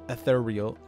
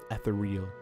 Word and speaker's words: ethereal: Unfortunately, the reroll or the roll dice from Finesse could trigger ethereal. I want to emphasize the second syllable, but it's not ethereal.